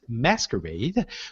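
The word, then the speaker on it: MSQRD: app called em at ms qrd pronounced masquerade which also puts filters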